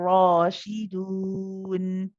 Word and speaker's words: rashidun: The main difference here is the ra, this one has this mad alif with it. So when we pronounce it with a fatha, we then prolong it for 2 counts.